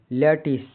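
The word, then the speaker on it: lattice: केंद्र एल A double T आई सी ई लैटिस Hindi अर्थ जाली जालीन नुमा संरचना जाला गणित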